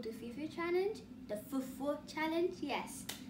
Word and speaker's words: fufu: The Fufu challenge, yes. That's how you say it, not Fufu, Fufu.